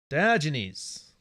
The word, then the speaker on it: Diogenes: I always pronounce these ones wrong. Barrel. Diogenes.